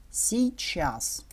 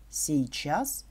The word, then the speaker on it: сейчас: Наречие «сейчас» произносится как «щас». Например, «я сейчас выхожу». «Я щас выхожу».